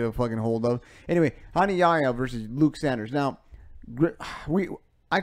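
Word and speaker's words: Hani Yahya: Ronnie Yaya, they pronounce it so many different ways. It's Hani Yaya, Ronnie Yaja.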